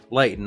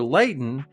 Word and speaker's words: lighten: So if we become lighter or if we lighten up, we relax. There's no stress. The pronunciation for lighten doesn't include the letter T.